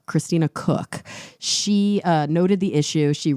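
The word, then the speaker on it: Koch: And so a mission specialist, and it's pronounced Cook, Christina Cook, she noted the issue.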